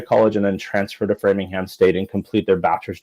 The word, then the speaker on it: Framingham: Framingham, yeah.